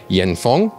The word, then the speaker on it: Yanfeng: And as a transparency note for you, Yanfeng, that's the current pronunciation of the supplier, they are sponsoring this video.